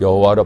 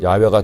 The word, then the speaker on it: 야훼: 사실은 한글 성경에도 얼마 전까지만 해도 야훼가 아닌 여호와로 표기가 되고 저희 교단에서는 여호와보다는 야훼가 더 옳은 발음이라고 생각하여 야훼로 바꾸어 표기하고 읽게 된 것입니다.